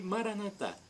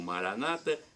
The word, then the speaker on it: Maranata: E Maranatá, como dizemos nós católicos, ou Maranata, como dizem os evangélicos ou protestantes. Não importa a pronúncia, vem do dialeto de Jesus, o aramaico, e significa vinde, Senhor Jesus, um dia Jesus voltará.